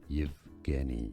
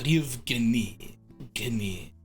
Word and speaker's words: Yevgeny: Yevgeny is how it's said in Russian and so in English. Yevgeny. Stress on the second syllable. Yevgeny.